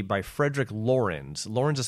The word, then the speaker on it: Lorenz: is called a rage at c by frederick laurens lauren's is spelled l-o-r-e-n-z and it's actually a pseudonym of a by a guy named lawrence heller who was born in 1911.